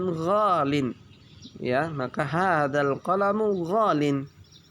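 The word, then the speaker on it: غالٍ: Ya, tapi tidak bisa kita karena susah diucapkan, maka diucapkan ghalin.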